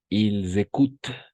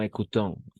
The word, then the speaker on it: écoutent: Ils écoutent, no écoutons. ENT al final no se pronuncia así nunca. Solo es cuando se trata de un verbo, ¿ok?